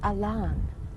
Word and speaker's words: Allan: one who came down his name was spelled Allan pronounced Elan he got a lon